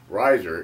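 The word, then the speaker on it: Reiser: period cap last period Riser is spelled r-e-i-s-e-r I encourage you to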